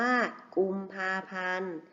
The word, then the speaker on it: กุมภาพันธ์: ว่า ว่า วัน ศุกร์ กุมภาพันธ์ มี ทอง การันต์ อ่าน ว่า กุมภาพันธ์ อารมณ์ มี นอ เณร การันต์ อ่าน ว่า อารมณ์ ดาว ฤกษ์ มี ศ.